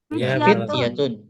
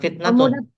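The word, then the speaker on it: فتية: Mereka ini teman-temanib sabar hobib haulai atib mereka ini para dokter hadza fatan haulaatunai fityatun fityatun bukan fitnatun fityatun Fikiyatun nam ini fatan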